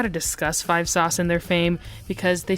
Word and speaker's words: 5SOS: A common discussion when it comes to 5 Sauce, which is the acronym for the band, it's pronounced like 5 Sauce and not 5 SOS.